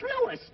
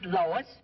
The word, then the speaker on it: Louis: the plant Lois Lois me name is leis not Lois J W everybody enolates me name wrong it's leis l o u i s Lois uh Louise Lucy